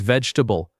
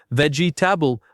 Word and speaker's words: vegetable: Number 21 is vegetable. This word is often said with four syllables, vegetable, but the natural pronunciation only has three. Vegetable.